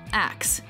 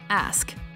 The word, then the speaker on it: ask: that instead what Barbeau number four ask common mispronunciation acts correct pronunciation ask we're uh a lot of uh Axe body